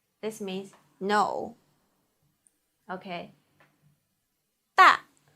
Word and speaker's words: 大: 大的 a with fourth tongue, 啊的 a 大的 a 大大大 means big.